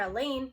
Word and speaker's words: Elaine: If I didn't know any better, I'd swear Elaine, rhymes with pain, just pulled an A.